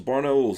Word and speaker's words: Barnaul: Barnauls, that's how you're supposed to say it.